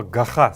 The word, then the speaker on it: гаха: Это сделано для того, чтобы вы заучивали произношение вот этого вот гласного г в первой позиции, который должен прочитываться в современном и произноситься в современном калмыцком языке как буква г.